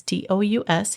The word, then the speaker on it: Tous: Alejandro Tous, I'm not sure how to pronounce his last name. It's Tous.